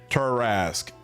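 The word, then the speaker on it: Tarrasque: It's pronounced turasque.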